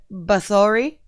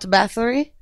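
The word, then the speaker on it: Báthory: Like, you know, like I recently discovered that you say her name Bathory and not Bathory.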